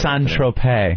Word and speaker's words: Saint-Tropez: call saint-tropez is a st. tropas how do you say San Tropez San Tropez that's San Tropez I like st. Tropez is myself st.